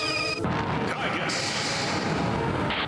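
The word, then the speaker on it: Giygas: The Earth is in danger from the universal cosmic destroyer known as Kigus. Oh no, it's Giga. You're supposed to pronounce it Giga. Like Gigafil.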